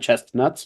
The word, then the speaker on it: chestnuts: They're not chestnuts. chestnuts. You don't pronounce the T.